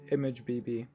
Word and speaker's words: ImgBB: A few other great free options that work just as well are PostImage and ImageBB, that's spelled IMGBB.